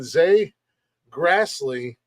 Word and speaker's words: Zay Grastley: let's get right down to it we got Z Grassley in the building and if I messed up